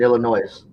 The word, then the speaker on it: Illinois: You don't pronounce the S in Illinois.